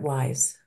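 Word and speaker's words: WIIS: the research director at WISE we are pleased that you have joined us for what I know will be a lively and very relevant discussion women in International Security pronounced wise has long been a beacon for gender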